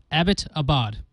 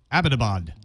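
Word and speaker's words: Abbottabad: I can't do it the city was named after a British major Abbot so it's pronunciation is simple Abbot Abad Abbot Abad there you go did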